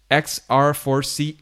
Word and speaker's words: XR4C: He's been also widely involved and actively involved with the XR4C community as an XR4C ambassador. That was hard to pronounce. Yeah, it's XR for change. It's just the shortened version.